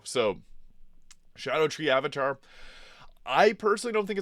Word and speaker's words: Scadutree: I originally thought it was Scadutree, but Scadu is the Old English pronunciation of Shadow. So Scadutree Avatar, I personally don't think it's that hard.